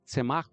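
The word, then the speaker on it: tzemaj: Ese semaj es T-Z-E-M-A-J, con acento en la E.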